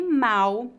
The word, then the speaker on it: mal: a mesma no Brasil a letra L em final de sílabas é pronunciada exatamente com a letra u portanto pronunciamos mau com u e mal com l então para